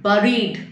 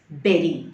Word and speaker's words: buried: the coin was buried if you have said buried which many people say it is wrong the pronunciation here is buried so it is buried now we move on